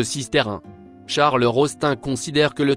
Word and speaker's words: Sisteroun: En provençal, occitan, on écrit Sisteroun et prononce Sisterin.